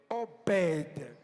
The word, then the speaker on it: Obed: donné le nom de Obed. En hébreu, lettre B n'existe pas. On écrit obede mais on prononce. Il faut donner naissance à OV.